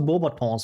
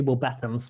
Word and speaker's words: Beauxbatons: He did pronounce Beauxbatons well though, I have to say. I didn't say Beaux Battens like freaking Michael Gambon, so that's cool.